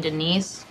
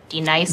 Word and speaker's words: D-Nice: Do you mean Denise? Son of a bitch! You say your name right now. Denise? Say it right. Denise. Correctly. Denise. Right. Denise. Right. D-Nice. That's better.